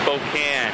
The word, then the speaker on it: Spokane: Although Erin keeps calling it Spokane. I guess that makes sense. That's how it's spelled. Now, Erin, where are we, man? It's Spokane. We're in Spokane. I told you, she calls it Spokane. Cracks me up. Spokane is what it really is.